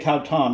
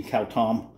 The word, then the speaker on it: khao tom: out of my house now when you make cow tom you have two choices you can have thick and porgy cow tom which means you don't use as much water or you can have soupy cow tom by adding a little more water k-8 cow